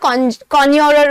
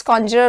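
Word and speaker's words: conjurer: इसे कॉन्जरर या कॉन्योरर भी कहा जाता है, बट the right pronunciation is कॉन्जरर only.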